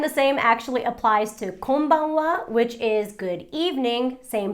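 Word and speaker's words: こんばんは: it is actually written as ha and just pronounced as and the same actually applies to konbanwa which is good evening same thing the wa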